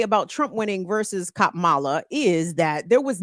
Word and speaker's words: Kamala: I know they're big on pronouncing her name correctly. Let me say it correctly. Kamala.